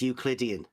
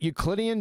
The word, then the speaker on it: Euclidean: That's the form that Euclidean geometry comes in. I thought you said it was Euclidean geometry. You have the wrong emphasis on the wrong syllable.